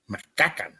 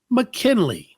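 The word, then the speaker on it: Ma'Kynnleigh: You want me to spell it again? McKinnon, yes. M-A apostrophe K Y-N-N-L-E-I-G-H. Macaca.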